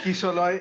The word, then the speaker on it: Kishalay: But Kishoy is the right pronunciation. That is the way I'm called back home.